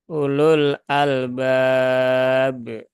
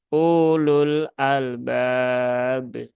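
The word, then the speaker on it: أولو الألباب: Nah, ulul nah, ulul albab. Nah, ini dibacanya ya, U-nya pendek ya. Ini tidak dianggap, ini juga tidak dianggap ya.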